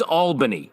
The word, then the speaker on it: Albany: Pronounced Albany in this show, which I think us upstate boys know. It's Albany. Yeah, it's Albany. Albany. It's always been Albany.